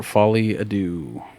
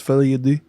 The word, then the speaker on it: Folie à Deux: go Joker Folly Ado okay it's pronounced fly Ado fly Folly adoo directed